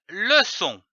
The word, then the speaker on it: leçon: façade comme une façade nous avons vu la syllabe so C c'est dit o so ajoutant un N pour donner le son son prenons une autre syllabe comme par exemple le l e le l'association de ces deux syllabes donne le son comme une leçon nous avons vu la